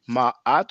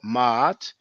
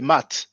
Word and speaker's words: Maat: don't pronounce it please don't pronounce it because there's no Y and try to pronounce it Ma at or mat but try not to say Matt you know but um